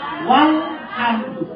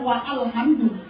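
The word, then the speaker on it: والحمد: Hamzah wasol itu kalau di awal dibaca, kalau di tengah tidak dibaca. Contohnya alhamdu itu kan di awal. Alhamdu. Sekarang tambah huruf satu waw. Apa bacanya nanti? Walhamdu, bukan wa alhamdu.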